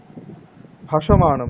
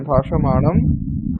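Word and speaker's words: भाषमाणम्: ভাষ্য নয়, হ্যাঁ ভাষা, ইয়কার উচ্চারণ করো না। সরি, হ্যাঁ, ভাষ্যমান। হুম, স্যার ভাষ্যমানম। হ্যাঁ ভাষমানম, ভাষ্যমানম অস্তি হুম বচঃ হুম রক্ষः ভাষ্য জাস্ট ভাষ্যমানম।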